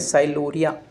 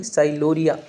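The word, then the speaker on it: sialorrhea: एक अपना बात करने वाले टाइलिज्म, यहाँ पर पी साइलेंट है, टाइलिज्म, इसको बोलते हैं साइलोरिया। डायरिया नहीं, साइलोरिया।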